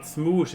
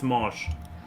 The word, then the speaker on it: Smosh: name is Anthony Padilla no but it's not smoosh it's pronounced Smosh first of all it's not pronounced smoosh either I said smooth yeah yeah Mr uh